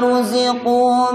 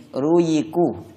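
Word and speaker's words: رُزِقُوا: Ruziqu sebagian membacanya begini, ruyiku, ruyiku atau rujiku. Nah, za dibaca seperti ya atau za dibaca seperti jim. Ini salah karena merubah huruf. Kullama rujiku atau kullama rujiku, salah. Yang benar za.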